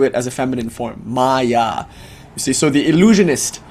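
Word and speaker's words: माया: So prai and then the word shaky, the word maya, notice it's not it's maya with a long a at the end genders it feminine.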